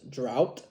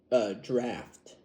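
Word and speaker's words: draught: Anyway, now I did learn that even though this says what it looks like says drought, that is actually draft. I guess the G and the H is silent.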